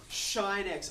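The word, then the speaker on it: sinh: has a brother named Believe It or Not shine X I didn't make it up that's how they pronoun it pronounce it mathematicians whatever okay CH now you're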